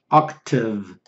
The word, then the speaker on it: OCTAVE: Octave is the pronunciation.